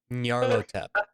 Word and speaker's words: Nyarlathotep: How do you pronounce that again, Dolphin? Nyarlathotep.